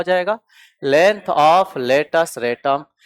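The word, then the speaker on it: latus rectum: लेटस रेटम का spelling देख लेना। हां वो रेक्टम है। लेकिन पढ़ा क्या जाएगा? रेटम। हां सी साइलेंट है।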